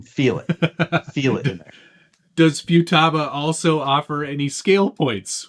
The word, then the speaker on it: Futaba: It's not FEWTABA. Usually a vowel followed by a consonant and then another vowel gets a long pronunciation. Futaba.